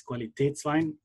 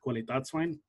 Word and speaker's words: Qualitätswein: on top, but yeah, there would be two dots on the top of the A over here, which makes it pronounced as Qualitätswein, not Qualitätswein.